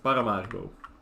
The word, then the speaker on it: Paramaribo: Or how we say it in Holland, Paramaribo. Which I think is the right way to pronounce it, because it is the actually way we... I don't know why I use an American accent to say a Dutch name, because it's just a Dutch name, right?